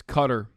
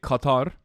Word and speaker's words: Qatar: How do you actually pronounceqatar? It's cutter. In Turkey, we say Qatar.